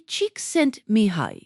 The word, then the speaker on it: Csikszentmihalyi: Mihaly Csikszentmihalyi. Pronounced roughly cheek-sent-me-high.